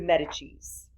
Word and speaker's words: Medici: one of the de Medicis, Medicis, if you're going to pronounce it in Italian, in 1460s.